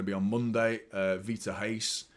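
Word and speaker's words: Reis: on Monday uh Vita haste it's Hast by the way V Hast not rice it's pronounced with an H so um yeah I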